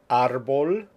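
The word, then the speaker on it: árbol: at the next set Arbol lapis Martinez cancer character these are words where the stresses in the next to the last syllable and there's a written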